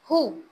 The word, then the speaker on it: who: Bridge word है BRIDGE, इसमें कौन सा साइलेंट है? D. D. Very nice. who, WHO, who, इसमें कौन सा वर्ड लेटर साइलेंट है?